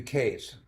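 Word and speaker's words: Katz: manager named Matthew Matthew case now a Jew who spells his name Kats and pronounces as Cas I should have been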